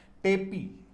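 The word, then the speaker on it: tepee: टेपी, इसको टीपी भी उच्चारण कर सकते हैं।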